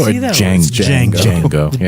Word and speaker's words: Django: Django. Yeah. D is silent.